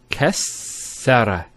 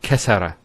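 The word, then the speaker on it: كسّر: And you can actually feel it the way it's pronounced. Kassara instead of Kassara. So once again, there's the Kaf, followed by 2 scenes, and then the Ra. So Kas, Skune, Sara. Kassara, not Kasara.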